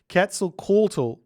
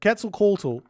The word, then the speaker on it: Quetzalcoatl: Quetzalcoatl. Whatever. Quetzalcoatl.